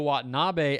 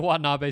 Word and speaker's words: Watanabe: And I've had some Japanese followers and subscribers tell me that I'm saying that name with the emphasis on the last A, and that in Japanese there is no emphasis on any syllable.